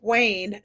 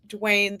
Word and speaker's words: Wayne: Polly Esther says it's Wayne, not Dwayne the Rock.